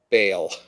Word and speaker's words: Bale: Bale. As in make bail.